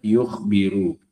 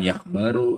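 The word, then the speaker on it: يُخْبِرُ: Ini kan tanpa ada harakatnya pun kalian kalau ketemu kata kayak gitu sudah bisa bacanya yukhbiru bukan yakbaru atau yakburu.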